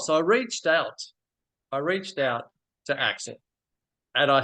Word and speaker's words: Axel: Alex, yeah? Have I pronounced it correctly, Alex? Yeah, it's correct, but it's Axel.